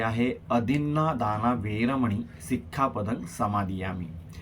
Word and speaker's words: अदिन्नादाना: करताना खूप चूक करतात ते म्हणतात की अधिन दाना विरमणी सिखा पदंग समाधियामी यातला दिन हा या ठिकाणी दाना असा शब्द पाहिजे अधिना दाना वेर मणी